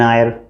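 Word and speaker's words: heir: एन is also use before the words which begins with silent H, जिसमें H silent होता है। जैसे एन आर, H silent, are पढ़ते हैं हम। एन आयर, आयर मीन्स उत्तराधिकारी।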